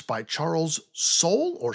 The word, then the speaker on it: Soule: It's by Charles Soule, or Soule. I'm not sure how you pronounce his last name. It's Soule.